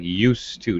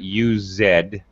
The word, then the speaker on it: used to: about pronunciation used to it actually sounds like used to not use it'd all right don't eat first of all but use is a Z Sam that's some used to very nicely yeah this actually because yeah because we generally reduce pronunciation this is such a common phrase in fact a lot of times you're going to hear more like you steh I used to drink